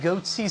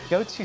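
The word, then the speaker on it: Goatse: He named his company Goatsy Security, so if you know what Goatsy is, G-O-A-T-S-E, I'm not going to explain it. Hey, there's a gaping security flaw here. No, Mommy, make it stop! Goatsy Security, who are these guys?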